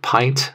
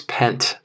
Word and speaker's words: pint: great example that is the word pint like a pint of beer patients who have this diagnosis will often mispronounce that word as pent and so they sort